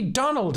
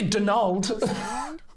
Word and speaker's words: Donal: Italian or something but she said it's supposed to be Donald and that's how you pronounce it the Irish just don't spell it with a d at the end Donal you sure the